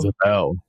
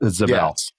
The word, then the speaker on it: Zabel: Uh I' I've heard his name pronounced so many different times actually. Zabel is Greg Zabel. Zabel. Yep. Zabel from North Dakota State.